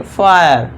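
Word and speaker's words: fire: इसे पढ़ेंगे फायर। फायर फिर नहीं फायर। इस तरह इसे वायर। देखिए लास्ट में इ है। इसे साइलेंट रखना है।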